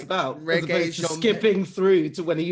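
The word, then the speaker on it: Regé-Jean: So it's pronounced reggae, not reggae. No, reggae.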